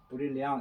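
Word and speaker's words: brillant: 브릴리앙 이렇게 브릴리앙 하는데, 브릴리앙 이 R 발음이 프랑스에서는요 르 발음이 아니고 이거는 거의 히읗 발음을 하게 나는데, 히읗. 그래서 브릴리앙 비언 이렇게 하는데 호 비음이 많이 나죠.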